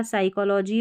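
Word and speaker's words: psychology: सी silent है इसलिए पी एस का वाला हमने देख लिया। साइकोलॉजी और यहां पर साम यानी पी जो है ये साइलेंट है इसलिए स पढ़ा।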